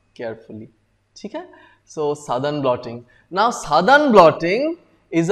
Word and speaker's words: Southern: every each and every one of you never pronounce it as Southern blotting very irritating the moment you say Southern blotting examiner has got a very bad impression